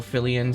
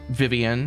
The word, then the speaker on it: Fillian: of the the whole fillian situation first of all uh her name is not Vivian her name is not livan uh it's fillian that's your first update it's it's fillian um